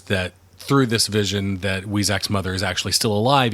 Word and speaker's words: Weizak: I think he says Weizak. That's how he pronounces it.